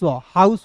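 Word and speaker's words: house: यहाँ आप देखिए ना, एच का ह, ओ यू का उच्चारण हाउ, एस का दोस्तों स, हाउस होगा कि नहीं? हाउस से नहीं पढ़ना है, क्योंकि अंतिम में ई आता है तो साइलेंट होता है।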